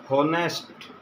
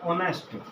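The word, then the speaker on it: honest: देखो अगर हमारे प्रोनाउंसिएशन के अंदर हम इसको बोलते हैं हॉनेस्ट, हम क्या करेंगे, ए का प्रयोग कर रहे हैं क्योंकि हमारी जो प्रोनाउंसिएशन गलत है तो हम वहाँ पे वही करते हैं। तो ऑनेस्ट, ऑनेस्ट बोलेंगे तो ओ, और यहाँ पे आवर तो एन आवर।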